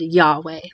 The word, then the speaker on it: Yahweh: And you'll often hear that said Yahweh. But really, we're like putting vowels where there aren't vowels in there.